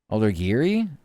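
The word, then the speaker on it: Aldegheri: Alder Giri. That' be a hard G.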